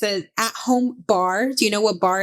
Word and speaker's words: barre: But bar class is spelled BARRE.